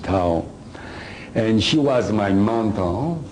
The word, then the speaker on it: Thao: T-H-I-O, Tao. That's her name. You can pronounce whatever you want, but I pronounce it Tao.